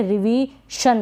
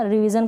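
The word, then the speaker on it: revision: रिवीशन, रिवीशन क्या होता है, कुछ नहीं होता। रिवीजन का मतलब तो होता है संशोधन या सुधार।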